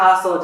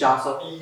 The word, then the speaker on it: Jasso: So it's like, it's not Jasso just because I'm Mexican. It's not an H, it's a J. It's Jasso.